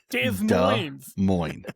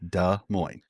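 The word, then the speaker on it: Des Moines: Dez Mo. Just cut the asses off. D Mo D Mo.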